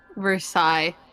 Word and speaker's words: Versailles: Versailles. Versailles witch. You don't pronounce the last S.